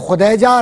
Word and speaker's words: خدیجہ: کا نام تھا حضرت خدیجہ, اور صحیح لفظ تلفظ ہے خدیجہ رضی اللہ تعالیٰ عنہ, ٹھیک ہے.